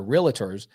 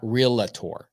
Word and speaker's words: realtor: you guys that are realtors it's actually pronounced realtor not real LaTour okay it didn't take